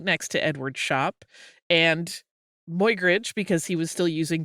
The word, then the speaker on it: Muybridge: hear an English person pronouncing it a little bit more like my instead of moy, so that's another.